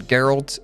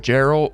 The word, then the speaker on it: Geralt: fortnite obviously you've seen geralt in there I know a lot of people have been pronounced as the name Gerald or something along those lines it's Gerald not Gerald geralt oh and he's actually